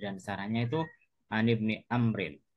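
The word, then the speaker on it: عمرو: sarahnya itu an Ibni Amrin. Jadi kalau Umar itu ada wawunya bacanya Amrin.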